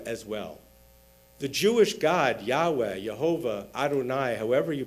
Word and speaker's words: Yahweh: the letters Yud-He-Vav-He, and came up with the name Yehovah, hence Jehovah's Witnesses. But then later, grammatical scholars posited that it must instead have been pronounced Yahweh.